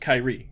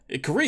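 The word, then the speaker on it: Kairi: i said i mean my name is probably meant to be pronounced kyrie right like kyrie irving but i don't pronounce it that way so don't tell me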